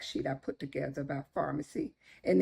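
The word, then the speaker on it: Farmacy: a little fact sheet I put together by Pharmacy and it's pronounced Pharmacy just like medication Pharmacy it was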